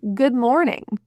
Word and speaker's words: good morning: In the formal pronunciation of good morning, the double O is pronounced not as oo, which many people will assume because of words like school or pool or food.